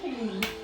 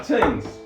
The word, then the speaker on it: Tignes: Oh, we all pronounced it wrong. How do you pronounce it? Tignes. Really? Ah, teens. Well, enjoy.